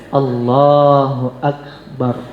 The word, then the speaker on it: Allahu Akbar: Sudah ada ketentuannya yaitu mengucapkannya Allahu Akbar. Ya, jangan a-nya dipanjangkan, jangan barnya dipanjangkan.